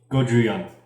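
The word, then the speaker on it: ごじゅうよん: Is it Goju-yeon? 54 in Japanese. Yes. Goju-yeon. That's probably not the right way to say that. It is, actually.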